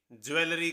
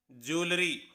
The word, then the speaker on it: jewellery: Mostly बच्चे इसे ज्वेलरी कहते हैं, लेकिन इसकी सही प्रोनाउंसिएशन है ज्वेलरी।